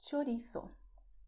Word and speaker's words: chorizo: This is how we pronounce it in Spain and chorizo in Latin America. Okay? Pay attention to the sound of ch. It's like in Italian when you say ciao. The same sound.